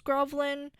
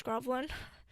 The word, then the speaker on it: Groovl1n: own label, which is Groovlin. Pretty sure that's how you pronounce it, GROOVL1N, which is why I'm pretty sure it's Groovlin.